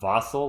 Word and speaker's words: Vassell: The refs just pronounce Vassell as Vassell, like fossil.